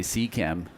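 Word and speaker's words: Z CAM: Is it Z-Cam or Z-Cam? I think it depends on the region. I think the Americans say C-Cam.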